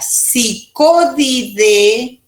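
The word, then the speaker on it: Psychodidae: Dentro de la familia Psicodidae, AES se pronuncia E, Psicodidae, tenemos los flebótomos para el viejo mundo y las lutsomías para nosotros en el nuevo mundo.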